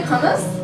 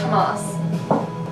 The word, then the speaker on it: hummus: salty thirsty yeah no it's did you say humus cuz it's pronounced Hamas by